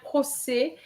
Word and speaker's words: procès: them, you know that an E with an accent grave gives you the S sound and the final S is silent, then un procès. Um, procès.